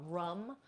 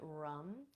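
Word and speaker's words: Ram: This one is Rum, spelled R-A-M, but we pronounce it Rum.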